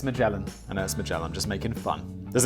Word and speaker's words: Magellan: I know it's Magellan. I'm just making fun. There's another sponsor which I constantly pronounce wrong because I just have it in my mind as being pronounced another way.